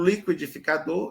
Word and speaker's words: liquidificador: pronuncia e liqu liquidificador então a no liquidificador eu já reconheço essa presença desse u pronunciado olha como é fascinante